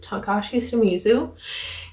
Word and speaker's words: Takashi Shimizu: Did I pronounce that correctly? Yes, Takashi Shimizu.